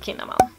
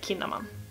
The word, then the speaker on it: Kinnaman: Vi behöver inte säga något till Johan, och nu vet jag att du heter Kinnaman och inte Kinnaman.